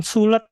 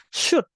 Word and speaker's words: should: sama You should not tulisannya s h o l Tapi bacanya bukan sulet atau Sul atau apa tapi shot ya teman-teman ya sehusnya sehusnya